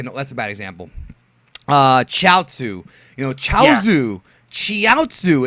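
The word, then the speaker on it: Chiaotzu: So it's like Gyaozu and then Chiaozu, but they pronounce it Chaozu.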